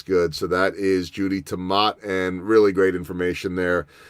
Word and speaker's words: Temaat: Han for connecting us it is tomate or as he said Jennifer always says like tomato tomahto no oh yeah so just remember to and if you say